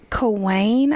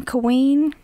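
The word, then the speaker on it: Cawein: His name was Dr. Madison Cawain, I believe is how you pronounce his name. It's C-A-W-E-I-N, Cawain, Cawain.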